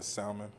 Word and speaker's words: salmon: Why put a L in the word and not pronounce it?